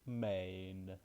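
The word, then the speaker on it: मैं: we have me, me, pronounced like me. It should be like main, men. So it should be like me with a little n.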